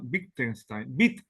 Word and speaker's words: Wittgenstein: hablar de Joseph Johan bittenstein es un apellido alemán la W se pronuncia como B de labial difiere del inglés la W Allí se